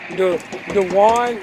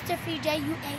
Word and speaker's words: De'juan: DeJuan, that's how you pronounce your name. Am I pronouncing it right? Yes. DeJuan.